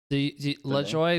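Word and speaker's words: Le Joi: joy huh le joy le joy with j-o-y at the end j-o-i but yeah the same like pronunciation right right i didn't want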